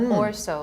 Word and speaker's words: or so: You know, when you say or so, the Or so, emphasis on so. It's not or so, it's or so.